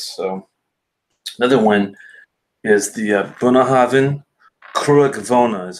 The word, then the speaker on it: Bunnahabhain Cruach Mhona: So another one is the Bunnahabhain Cruach Mhona is how you pronounce that.